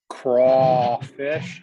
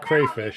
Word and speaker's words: crawfish: Everybody in the chat is giving me a hard time because I don't know how to pronounce crawfish, as they put it. Yeah, it's not crayfish, it's crawfish.